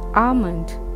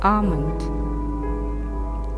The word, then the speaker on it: almond: silent in this word almond ill is silent it's almond tomb yacht the word